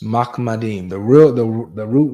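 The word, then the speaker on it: מחמדים: Mahmadeem is how to say it in the Hebrew.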